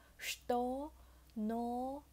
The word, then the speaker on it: что нового: Các bạn nhìn đây nhé, viết là нового, nhưng mà ого thì mình đọc thành ава, nên sẽ đọc là что нового.